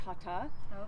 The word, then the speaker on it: hatha: hatha yoga the word hatha translates to it's actually pronounced hot ah which means Sun Moon and it's balancing and